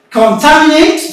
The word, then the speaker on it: contaminate: Contaminate, the stress falls on Ta, the same as hospitality.